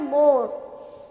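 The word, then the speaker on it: more: तो स्ट्रेट, तो यहाँ पे GH जो है वो क्या है, साइलेंट है और बोलते क्या है, स्ट्रेट, STRAIT, स्ट्रेट, है ना। उसके बाद है मोर, तो मोर में हम क्या नहीं बोलते हैं,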